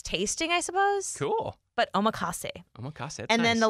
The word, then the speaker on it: omakase: Okay, I'm not sure how to pronounce this, but I think it's omakase.